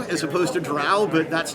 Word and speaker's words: drow: I mean, I would argue with anyone who says dro as opposed to drow, but that's not what this is about.